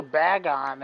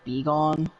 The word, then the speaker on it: Bagon: For a while, I kept pronouncing it as I kept saying Bagon as in Begone. Yeah, it could go either way, honestly.